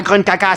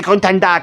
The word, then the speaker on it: Gruntilda: C'est pas Grunkaka, c'est Gruntanda, crétin.